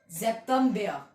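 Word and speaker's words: September: सितंबर पर क्या पढ़ेंगे इसे, जेड से, ज़ेप्टेम्बर, ज़ेप्टेम्बर, ठीक है। तो आर भी यहाँ पर साइलेंट होगा, तो और जेड से प्रोनाउंस होगा स्टार्टिंग, तो ज़ेप्टेम्बर।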